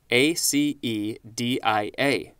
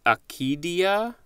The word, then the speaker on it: acedia: from Latin and Greek I think it's pronounced acadia a ke dei a which has come formed